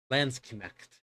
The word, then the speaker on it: Landsknecht: Pronunciations I'm finding have it with a hard K. And actually pronouncing the CH with, you know, Landsknecht.